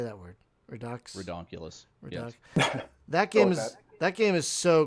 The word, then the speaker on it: Redux: Redux.